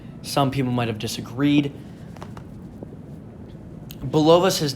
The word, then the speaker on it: Bulovas: Joseph Bulovas, correct? Yep, that's how I'm going to pronounce it.